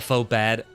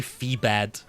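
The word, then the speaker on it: Phobad: Laba faux bad. See, it says faux bad, but I almost say fee bad. Because I'm thinking of Phoebe.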